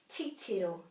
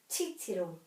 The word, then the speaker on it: titiro: So if you don't have a macron or a double vowel, just put the emphasis on the first syllable, titiro, titiro.